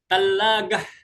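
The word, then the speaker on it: تلاجة: Apalagi tallagah. Nah, kulkas ya. Ada lagi sa dibaca ta dibaca. Nah, kayak tadi tuhun dibaca kallagah.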